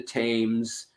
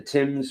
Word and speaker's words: Thames: i see it the thames uh the tim's river i guess it depends on what part of britain your accent's from also a uh or if you're not from there i mean you guys say it right however you say it in london but uh yeah the